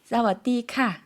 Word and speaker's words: สวัสดีค่ะ: 사와디카, 사와디크랍 이라고 해주셨습니다. 저희 다시 한번 들어볼게요. 조금 천천히 발음해 주시겠어요?